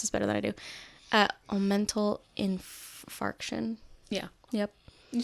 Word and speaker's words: omental infarction: And they discovered that I had I'm probably going to say this wrong, so you might know how to pronounce this better than I do. Omental infarction.